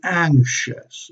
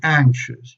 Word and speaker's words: anxious: pronounced like this and anxious okay anxious you know the sometimes the an X combination is weird but you say anxious with this sound and then in final